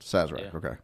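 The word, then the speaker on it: Sazerac: bers Luxor I think it is saz okay that's how it's pronounced saz okay y I'm the rookie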